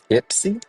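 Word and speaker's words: Ypsi: Ipsy is the right pronunciation. Okay. Ipsy. Interesting. Um I was today years old when I've heard of Ipsy, Michigan.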